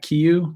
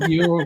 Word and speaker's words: Kieu: Kieu. Kieu. Okay. Oh, okay. Okay. Kieu. It's a K, but it's pronounced with G sound.